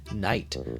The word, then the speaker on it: night: Except for when it doesn't, because it's one of those silent front letters. Knife, night.